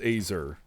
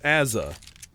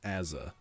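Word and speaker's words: AZR: no it's not pronounced AER it's pronounced asza ask any Australian every single one of them will tell you it's pronounced Aza if I was with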